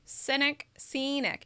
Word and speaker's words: scenic: So you're going to really move your mouth. Scenic, right? You're really going to see that shape. Cynic is a little more closed, and it has to do with your mouth is actually more relaxed, whereas with scenic, your mouth moves more.